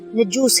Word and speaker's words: نجوس: و کسریٰ کہلاتے تھے، افریقی زبان میں نجاشی کا تلفظ نجوس ہے اور اس کا معنی ہے بادشاہ۔ نجاشی کے نام حضور